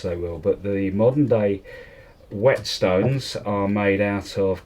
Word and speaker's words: whet: called a whetstone and it's spelled v w/h ET and wet means to sharpen so it doesn't matter whether it's wet or dry it's still a wet stone the Stivers that's natural